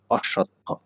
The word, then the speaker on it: অশ্বত্থ: পরেরটা অশ্বত্থ, এটির উচ্চারণ হবে এরকম অশ্বত্থ। ব ফলা থাকলে সেইটি ২ বার উচ্চারিত হয়।